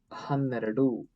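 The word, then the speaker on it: ಹನ್ನೆರಡು: Next word is Hanneradu. 1, 2. Very simple to write. Hanneradu. Hanneradu. Write Han, and then Eradu. Eradu means 2, right? Han, Eradu. Hannondu means 11.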